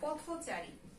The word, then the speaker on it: পথচারী: যেমন ধরো পথচারী, এই যে সমাসবদ্ধ পদের মাঝখানে পথের সঙ্গে একটা থয়ের সঙ্গে একটা স্বরেয় আছে, এইটা কিসের মতো উচ্চারণ হবে? ও এর মতো।